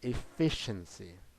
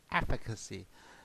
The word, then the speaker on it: efficacy: And for a lot of people, people pronounce uh, efficacy as efficiency. Efficiency is a common word that is used to test whether a drug is efficient or not. But In the pharmaceutical industry, we use the special word efficacy and pronounce as efficacy.